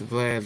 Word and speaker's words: Vlad: It's Vlad, like Vladimir.